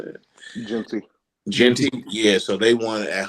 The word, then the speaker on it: Jeanty: How you pronounce Jeanty? How you say it? Jeanty, yeah.